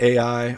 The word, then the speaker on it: Ai: AI yeah yeah so at AI or pronounced I either one you both fine they suffer this huge